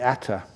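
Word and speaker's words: attā: the Atma that's how was it was uh pronounced in in uh Sanskrit the Atma in par the uh that's right uh the ATA so anyway even experience you can't take experience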